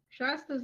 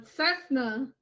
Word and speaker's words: Cessna: I slurred, pronounced that wrong. Shasta's a fucking drink. A Cessna. Shasta. It's a Cessna.